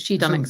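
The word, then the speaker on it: Shedunit: u n i t like who done it but she done it it's about ah uh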